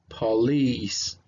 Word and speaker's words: police: So that doesn't sound like a po, sounds like pa, pa, because of the schwa. And then we have the stress sound in the second syllable. So it's gonna sound like a long E right here. You have a long E. So it sounds police, police, police.